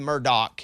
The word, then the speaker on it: Murdaugh: First of all, it's the Murdoch, even though it's spelled Murdaugh.